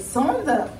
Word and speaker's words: Sand: Ben moi c'est Sand, enchantée. J'aime bien repréciser mon prénom, c'est juste Sand, ça s'écrit S-A-N-D.